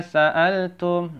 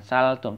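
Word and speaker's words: سَأَلْتُم: Ma sa'altum. Nah, ini bacanya apa? Sa'altum ya, jangan salah. Jangan saltum, tapi sa'altum.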